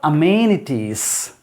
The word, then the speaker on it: amenities: city number one more amenities means facilities so remember that the stresses on the second syllable here and there amenities and facilities so